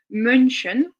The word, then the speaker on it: München: allemand moderne pour le vocable moine au pluriel München dont vous sentez peut-être la promiscuité la ressemblance